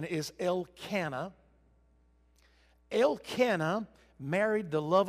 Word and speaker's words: Elkanah: there for a little while but the correct pronunciation is el cana el cana married the love of his life